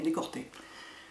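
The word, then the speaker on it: Decorté: l souvent comment dire c'est pas que le l se prononce r mais c'est que les deux sonorités sont extrêmement proches je pense qu'ils ont voulu l'appeler décolleté puis lui appeler décorter bon c'est dommage enfin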